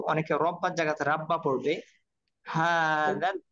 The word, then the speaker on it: هذا: হাদাল, দাল নরম হবে, অনেকে হাজাল পড়বে, হাজাল, হাদাল বাইত।